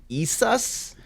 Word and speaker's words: Isis: when they mention isis the actual pronunciation of uh isis's name is like isas so and that's what